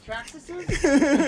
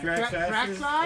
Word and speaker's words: Traxxas: How do you say more than one Traxxas? Traxxases? Traxxas. Yeah. Traxxas? It's Traxxas. Tracks!